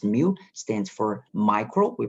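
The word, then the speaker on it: μ: thousandth okay and and mu case Greek letter pronounced mu stands for micro we pronounce micro stands for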